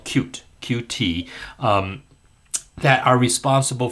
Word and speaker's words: Qt: And uh we are moving to a newer version of QT or cute uh is how it's supposed to be pronounced.